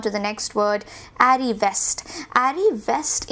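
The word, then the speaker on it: arriviste: Arrivest, ये जो शब्द है इसे हम arrivest की तरह प्रोनाउंस करते हैं, arrivest।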